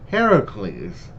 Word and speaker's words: Heracles: in uh greek mythology his name is actually pronounced heracles but in this they you know said it